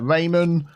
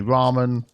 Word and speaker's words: ramen: a few comments about the way I pronounced uh raymon I know some people would say Ramen that's just accents there we go so